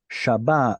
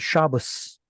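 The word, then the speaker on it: שבת: The Ashkenazis pronounce this as an O sound, or more like an aw sound, and this as an S. So that's where they get Shabbos.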